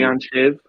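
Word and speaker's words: leannán sídhe: I would say Leanne Sheed. I would pronounce that Sheed with the D. All but you right. could say Right. Leanne Shiv, but with Sort the of E.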